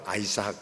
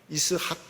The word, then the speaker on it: 이삭: 자기에게 낳아준 아들을 이름하여 이삭이라 하였고, 아이의 이름을 이삭이라고 했는데 웃음이라는 뜻을 가지고 있습니다. 우리는 이삭, 영어로는 아이삭 이렇게 하지만은 히브리 원어로는 이스학 이렇게 되어 있습니다. 히브리 원어는 이스학이 원래 맞는 발음입니다.